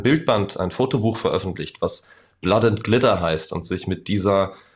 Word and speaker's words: Blood & Glitter: Blatt, oder ne, wie wird es richtig ausgesprochen? Blatt und Glitter, also Blut und Glitzer. Genau, Blood and Glitter.